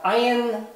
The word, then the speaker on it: ayin: Down here, we have ayin. It is the second silent letter. So two silent letters, aleph, ayin, they do not make a sound in themselves.